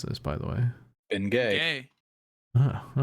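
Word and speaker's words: Bengay: How are you supposed to pronounce this, by the way? Ben Gay.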